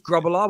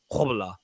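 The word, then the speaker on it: Grobbelaar: great name uh bruce grubellar we all said wrong forever i remember watching him on the documentary and he said that his name's actually pronounced like hobbler but he said that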